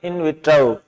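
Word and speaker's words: in vitro: ओ की ध्वनि है, इन विट्रो, इन विट्रो। ये जो सेकंड पार्ट है विट्रो, इस वी पे ज्यादा स्ट्रेस देना है, ये बोर लगा है।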